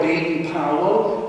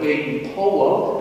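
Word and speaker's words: Baden-Powell: person didn't forget about Lord B Powell or as he pronounced his name Lord Ben po but that's difficult for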